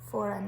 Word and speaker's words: foreign: is in that one so we've got silent g in there foreign you don't hear that g sound then last one we